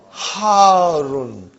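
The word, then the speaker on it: حارٌّ: Al-labanu harun. Harun. Because the shadda is on ra. So you got to pronounce it properly.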